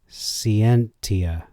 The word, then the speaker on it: scientia: not being accurate since SC in Latin is always sick as in a word like sientia science pronounced by the ancient Romans as ski and tia so they would say skeins but before he accused